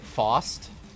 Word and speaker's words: Faust: Or with Faust, you would also pronounce it Faust.